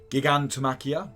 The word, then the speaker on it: Gigantomachia: Dodona, Wings of Abaddon, Gigamatakia, I'm going to say it wrong and people can comment all they want, it's how I say it. Gigantomachia, they try to say it better.